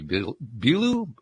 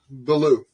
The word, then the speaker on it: Billou: his name is Nikki belu I I didn't even ask your name pronunciation before we got going is it belu or Belo I'm I'm guessing one of those two Belo belue okay all right so